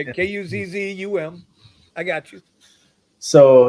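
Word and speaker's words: Cosom: Well, it's COS. It's spelled COS. No. It's KUZZ. COSUM. Yeah, KUZZUM.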